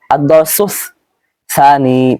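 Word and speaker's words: الدرس الثاني: ভুলটা করা যাবে না প্রথমে সিন এরপরে সা রয়েছে আদারাসুস সানি অর্থ হলো দ্বিতীয় পাঠ এখানে আমরা এই শব্দটা মুখস্ত করব আদসুস সানি অর্থ হলো দ্বিতীয় পাঠ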